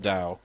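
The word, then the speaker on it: Tao: like the same run Tow and da yeah well I know it's pronounced Dao even if it's spelled with a T I just read tow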